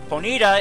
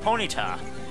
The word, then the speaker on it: Ponyta: ponita or Ponyta well ponita is how Ted Lewis pronounces It But Me is supposed to be Ponyta I think technically it's supposed to be Ponyta so anyway job and one